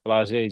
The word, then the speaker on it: Flau'jae: She actually Flo- transferred. She actually Flau'jae Flo- Johnson, Flau'jae, my fault, Flau'jae Johnson. Yeah.